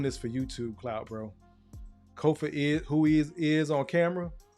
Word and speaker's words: Kofa: Again, I have been your humble host, Kofa, K-O-F-A, not, not, not Kofi, or any variation thereof. Kofa rhymes with sofa.